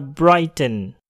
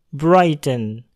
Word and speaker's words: Brighton: Contoh lainnya yaitu pada kata Brighton. Brighton. Pada kata ini, huruf R terletak di depan huruf I yang berbunyi vowel. Maka bunyi R dapat terdengar. Brighton.